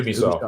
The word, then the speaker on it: Ubisoft: So this is Ubisoft is shutting down. Am I pronouncing that correctly, by the way? Ubisoft. Yep.